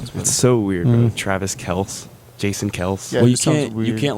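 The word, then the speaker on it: Kelce: name is actually pronounced Kels yeah yeah that's the one of their podcasts yeah they talk about like it's actually Kells it's how you say it but everyone says Kelsey and yeah Kelsey sounds real south the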